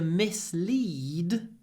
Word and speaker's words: mislead: one he tried to mislead the court mislead mislead he tried to mislead the court and because lead is lead le le mislead is the same he misled the court